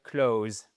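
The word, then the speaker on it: clothes: Et ça nous donne tout simplement un Z. Vous voyez là un th en fait en phonétique mais vous pouvez très bien dire close les vêtements clos new for the trip.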